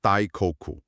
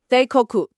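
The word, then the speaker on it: 大国: And the Japanese pronunciation of the characters for "Okuni" happens to be Dai-ko-ku. Dai-ko-ku. Right. It's the exact same pronunciation.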